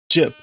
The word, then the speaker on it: Jip: No, not Jipu, Jip. J-I-P.